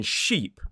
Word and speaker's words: sheep: Both of the sounds, the tip of the tongue needs to be towards the front top of the mouth, but the e sound in sheep is slightly further forward towards the teeth.